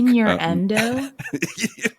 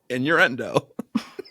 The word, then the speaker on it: innuendo: Inendo. Did you mispronounce that or did you say that that way on purpose? I said it that way on purpose. Inendo. Inuendo.